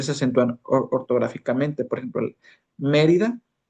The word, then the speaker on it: Mérida: Por ejemplo, Mérida Mérida. Entonces, Mérida, la antepenúltima sílaba es me. Entonces, por lo tanto, debe llevar acento.